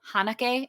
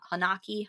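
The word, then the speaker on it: Haneke: written and directed by michael hanake i'm going to pronounce his name as i'm pretty sure that's right or hanaki hanake um but essentially it's about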